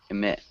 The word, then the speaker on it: emit: And then emit. Emit. More like an I. Emit.